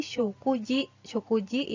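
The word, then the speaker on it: 食事: artinya kejadian atau hal kemudian apabila disambungkan atau dipasangkan dengan kanji syukur yang tadi makan kanji makan menjadi shokuji shokuji yang artinya makan kata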